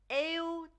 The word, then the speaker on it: eu: Now we pronounce this as eu, eu. It almost sounds like eu, but it's more eu, eu than that. But this just makes it a little bit easier to pronounce.